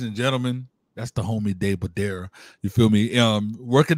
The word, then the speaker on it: Day Badara: Like, it's just Day Badara. It's how it's spelled, is how you say it.